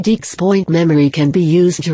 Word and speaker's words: XPoint: state drives this new 3 Deeks point memory pronounced cross point is already in the